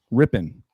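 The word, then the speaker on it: Rypien: How do you pronounce that last name, Rambo? Ripien? Rippin.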